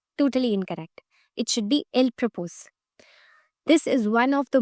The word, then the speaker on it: il propose: For example, if you read these words, most of the students pronounce it as il proposons. which is totally incorrect. It should be il propose.